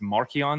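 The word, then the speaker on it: Marcion: And Marion his name is Marion. That's how it's pronounced.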